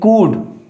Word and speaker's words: could: SHOOD should, and here is COOD could.